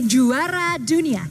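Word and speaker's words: juara dunia: You can say jara dunia.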